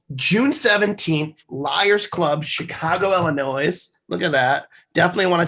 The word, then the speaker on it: Illinois: So Illinois, so that you don't pronounce the S.